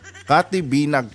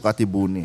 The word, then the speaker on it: Kathy Binag: Ay katibinag pala. Hindi pala katibuni mga kapatid. Sorry sorry naman no. Na-mispronounce natin yung kanyang ah pangal apilyedo. Katy binag pala. Hindi po kati buuni ha.